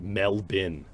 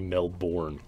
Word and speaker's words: Melbourne: might not know but they pronounce it mel bin even though it looks like it should be melbourne so i think that's